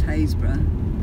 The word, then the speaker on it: Happisburgh: we took you the other day which is phase brah it looks like Happisburgh but it's pronounced haze bruh goodness knows and why which is where the